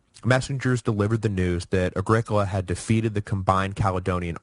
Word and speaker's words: Agricola: for the pronunciation correction it is Agricola not Agricola which yeah I agree sounds like some kind of terrible hippy soda so I'm sorry about